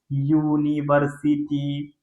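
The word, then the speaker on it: university: Vowel letter के साथ, लेकिन जो पहला उच्चारण जो इसका निकल के आ रहा है ना बच्चों, वो क्या आ रहा है? यूनिवर्सिटी, यूनिवर्सिटी, you. That means ये जो साउंड है ना ये किसके जैसा है? कॉन्सोनेंट के जैसा है।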